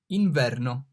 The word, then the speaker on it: inverno: I, inverno. The I here is pronounced like double E in deep.